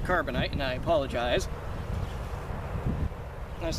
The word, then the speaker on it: Carbonite: Star Wars for people by saying Cobra Knight instead of Carbonite and I apologize I